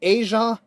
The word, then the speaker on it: Asia: In the word Indonesia and Asia, it's pronounced as zh.